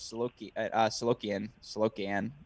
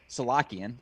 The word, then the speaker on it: Salakian: This would be a confidence boost for Sands, certainly, because Solokian, I'm going to butcher the pronunciation the whole time. Salakian, there it is.